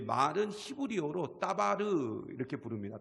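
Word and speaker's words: דבר: 마리 라는 단어가 나옵니다 r2 제 말은 히브리어로 따 바르 이렇게 부릅니다 다바르 근데 따 바르는 사실 언제 가장 많이 사용되는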